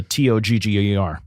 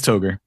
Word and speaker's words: Toger: Yeah, Jerod, what is the official pronunciation of the Togger? It is Toger. See, I just like Togger. I know it it's rhymes not with phonetically Frogger, correct, but you know, hang on.